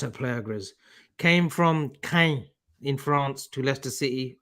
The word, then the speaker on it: Caen: You don't say can, do you? Like can of beans. It's Kane. Caen.